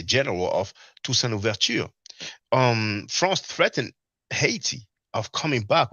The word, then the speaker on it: franc: Now, well, we say franc, we don't pronounce the C in French, but in English people do.